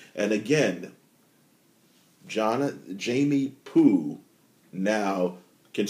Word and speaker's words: Pugh: and believe it himself I think about Jamie Pooh his name is spelled p g h guy is guy is